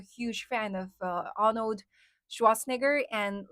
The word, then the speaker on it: Schwarzenegger: How do you pronounce his last name? Schwat Schwatzenegger. Schwarzenegger. Is that that the right right pronunciation? Yeah.